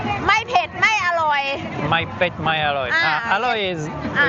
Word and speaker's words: ไม่เผ็ดไม่อร่อย: ไม่เผ็ดไม่อร่อย My pet, my alloy. Ah, Alloy okay. is Ah, oishi. oishi. My pet, my alloy.